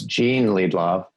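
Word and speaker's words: Jean Liedloff: back I have to correct you though it's Jean Lee Bob oh thank you sorry Jean yes and I've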